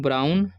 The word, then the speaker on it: brown: Okay, अब यहाँ पर लिखा है BROWN, तो इसे पढ़ेंगे हम लोग ब्राउन। ठीक है, OW का उच्चारण यहाँ पर आउ हो रहा है।